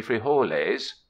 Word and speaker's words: frijoles: potatoes and quite likely free whole A's pronounced frijoles for beans for saddlebags